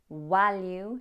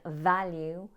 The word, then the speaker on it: value: Evaluate should have been evaluate, value should have been value, and version should have been version.